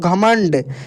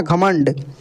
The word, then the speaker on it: घमंड: में मैं बताया था कि ये जो बिंदी है तीन तरीके से पढ़े जाता है कि आधा न एक आधा म और एक आधा अण यहां पर बोलकर देखिए दोस्तों घमंड ये अण का उच्चारण होगा ठीक है ना घमंड तो